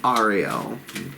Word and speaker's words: Ariel: to do still a point my beloved Archangel Ariel correct pronunciation beloved Archangel of nature Archangel of lions